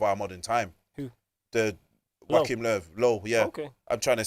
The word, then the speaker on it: Joachim Löw: The Joachim Löw, yeah.